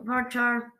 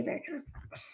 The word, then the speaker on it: varchar: very char so um some people pronounce their varchar i say bear um and this is